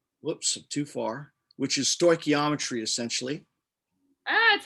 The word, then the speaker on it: stoichiometry: if you go to module 4 whoops too far which is stoichiometry essentially that's how you say it we've got